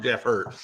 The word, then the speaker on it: Jeff Hurt: on that mini rod not jeff hold him hurt i said it wrong jeff hurt i just i just want